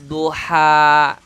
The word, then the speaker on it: Dhuha: istighfar aldonya tebal kemudian h nya di sini tipis lagi jadi uap Dhuha jadi jangan terbawa tebal dengan huruf dodhu kalau bacaannya Wow terbawa